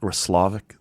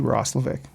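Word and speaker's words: Roslovic: It's It's actually It's actually Rosik. On his hockey reference page because I am so bored that I went and looked. It says the empasis goes on the middle salab.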